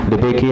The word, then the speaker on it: DeBakey: DeBakey has 3 syllables, or DeBakey, so that has 3 classes.